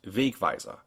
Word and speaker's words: Wegweiser: Here, for instance, we have the German word for signpost, Wegweiser. The first syllable is accented, but the second one also has a mark.